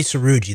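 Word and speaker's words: Srouji: talking about um Johnny it appears to be suuji his name is spelled j n y s r o uji thank you Johnny seruji that's correct right and what what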